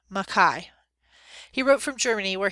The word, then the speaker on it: Mackay: He pronounced his name Mackay.